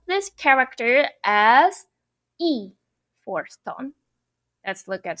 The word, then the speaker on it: 一: which is not major work okay let's see pronounce fourth tone e e when will it happen when the word after this character is firstone second tongue third tone then you need to pronounce this character as e for stone let's look at some eczema let's